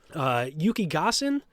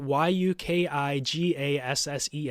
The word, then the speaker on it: Yukigassen: Yukigassen is, I think, how you pronounce it. Yukigassen. Yukigassen.